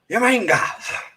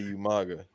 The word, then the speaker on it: Umaga: has coming to representing Raw, the Samoan Bulldozer, Umanga. Umanga. It's like who? There's no. all that proper how do you spell that? That shit. He can't say Umaga.